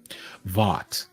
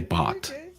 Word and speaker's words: Vought: up their name because I don't want to mispronounce it. What? Who? Vought? Vought. Thank you. I had to go look up the pronunciation because I was gonna say bot.